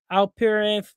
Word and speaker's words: Alperen: And then you got Alperen from the Houston Rockets.